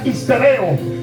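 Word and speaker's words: ὑστερέω: Por eso cuando nosotros buscamos esta palabra en griego, hay una palabra que se pronuncia histereo.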